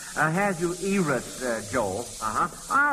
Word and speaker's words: Ahasuerus: I think it's pronounced Ahasuerus, Joel.